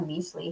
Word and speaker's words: Mixly: If you've never been out to Meesli here in San Antonio, it's spelled Mixly, Meesli.